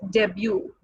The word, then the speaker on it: debut: It's what, not debut award. It's debut, something new, first of its kind.